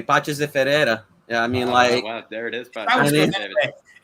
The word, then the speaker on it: Paços de Ferreira: I'm saying Paços de Ferreira. How would you say it? Do you even know? I mean, you might not even know. I think you said it perfectly. Paços de Ferreira.